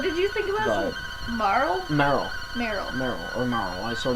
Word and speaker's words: Marle: Yeah, but there's people who say it's Meryl. Like Meryl, as opposed to Marl. Yeah. But yeah, I think there's some people who say Marl like runs with Carl. Some people I say totally Marley. agree. I totally agree with you in saying that it's Marley. Because like I can see